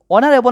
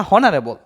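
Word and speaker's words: honorable: এন হবে অনারেবল person অনারেবল না হারেবল অনারেবল উচ্চারণ হইতেছে কি হতে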